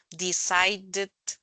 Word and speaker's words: decided: termina con t los los que terminan con t o d se pronuncian con it al final Wanted por ejemplo Wanted decided eso se dicen como